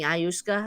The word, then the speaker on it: ayahuasca: He mentioned doing the ayahuasca, I guess it's called. I don't know if I Ayahuasca. pronounced that right.